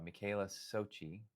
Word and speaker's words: Micaela Socci: originally um I had to get your name pronounced right, but it's uh Michaela Sochi, right?